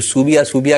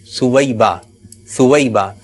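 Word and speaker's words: صویبہ: العالیہ نے توجہ دلائے۔ جو صوبیہ کر رہے ہیں تو اس کا صحیح تلفظ کیا ہے؟ سویبہ، اور ان کا تعارف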